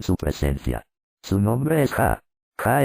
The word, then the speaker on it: Yah: presencia su nombre es ja ja es pronunciado ya como en Aleluya en el lenguaje hebreo